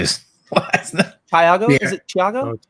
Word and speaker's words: Thiago: say hisago is it Thiago I've heard him say like like it's a CH I've heard like every pronounce say it's like Chiago or Chiago probably closer to that CH sound since Portuguese Thiago and he strugg like